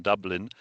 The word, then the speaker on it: Dublin: Well, I mean, with the with the sec with the second dublin, you would hear most people say it, but the truth is, if we're talking about Polish people pronouncing it, it would be Dublin. We wouldn't we wouldn't expect we wouldn't expect a foreign person coming to the country to sound with the lower U in there.